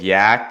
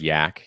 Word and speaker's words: Yac: who don't know what yak is yet it rhymes with slack um but and there's